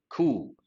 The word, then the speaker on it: coup: Typical combination, political turmoil, coup, dethroning a particular government, P is silent, trigger, to stimulate something.